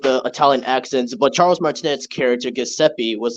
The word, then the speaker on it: Martinet: Also, it's pronounced Martinet.